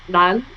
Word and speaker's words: Ran: so difficult to pronounce because the Japanese R's are like different. So it's Ran, like it's Hmm. like a mixture of an LD and like R.